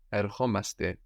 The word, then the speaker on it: ερχόμαστε: So we add omaste and we accent the o. We're actually accenting the ending here. Ερχόμαστε. Ερχόμαστε. We don't do that with έρχομαι, nor έρχεσαι, no. Accent the ending.